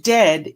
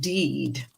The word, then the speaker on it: dead: Okay, so, and dead is said like bed, not bead, or and dead is said like bed, not bead. And for goodness sake, don't call it deed.